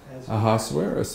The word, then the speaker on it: Ahasuerus: days when the king Ahasuerus, how do you pronounce that? Ahasuerus, okay, sat on the throne of his kingdom, which was in Shushan the palace.